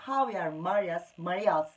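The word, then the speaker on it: Javier Marías: Javier Marias diye yazılıyor ama Javier Marias diye okunuyor.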